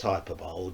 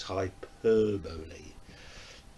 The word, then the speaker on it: hyperbole: But it's not pronounced hyperbole, just in case any from over the pond is actually watching. Its correct pronunciation is hyperbole.